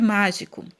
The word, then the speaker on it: mágico: Então, o que eu mais demorei falando, né, foi a sílaba má. Então, má é a sílaba mais forte, é a que você pronuncia com mais força. Então, é a sílaba tônica.